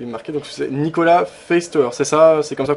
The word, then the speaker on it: Feisthauer: il est il est marqué donc c'est Nicolas faer c'est ça c'est comme ça qu'on prononce oui tout à fait faceer si on pouvez le dire à l'allemand F